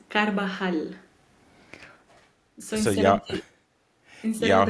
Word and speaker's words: Carvajal: It's Carvajal. So So y'all, instead of y'all the heard Carvajal, yeah, think it's like a H.